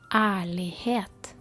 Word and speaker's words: ærlighet: So, honesty is ærlighet. It is starting with a strange letter, a Norwegian letter, which is a mix of A and E. We pronounce it A, and then it's followed